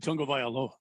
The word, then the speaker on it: Tagovailoa: Tua Tagovailoa? No, I believe you said Tagovailoa. I don't think I would have ever pronounced it correctly.